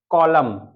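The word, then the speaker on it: column: यहां पर हम पढ़ेंगे जब किसी शब्द में एम के बाद एन आता है तब एन हमेशा साइलेंट होता है तो एन कैसे पता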